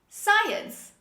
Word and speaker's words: science: science say with me science as you see the letter c is dropped when we pronounce it to it science say